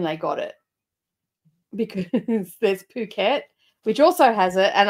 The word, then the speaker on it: Phuket: and we got to Phuket and Phuket is actually spelled with a ph so a lot of people say it's bucket and as a joke and she thought that